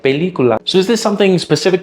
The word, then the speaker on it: película: I tend to pronounce it as película. That stressed vowel E I fully pronounce, but all the others are kind of less important, so I don't fully pronounce them. I reduce them. But to a native Spanish speaker, that sounds very foreign because they would fully pronounce every vowel, saying something like película.